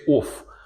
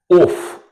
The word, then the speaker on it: of: You see the neutral sound as in word cup, of, or just So instead of saying off, you need to say of, or right?